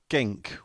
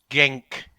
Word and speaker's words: Genk: last year we played gink was it not well it's last year we played gank and this year we're playing against well genk is apparently how they pronounce him Belgium and the other one